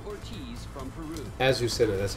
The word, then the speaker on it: Azucena: Azucena, that's how you say it.